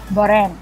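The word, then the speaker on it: borem: B-O-R-E-M. Bore. Yeah. The M is silent, but it's through the nose.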